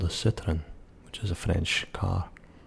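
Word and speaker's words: Citroën: And maybe because it's more of a proper name, you might get a few people saying Citroen. But more likely or not, it would be Citroen. T's gone.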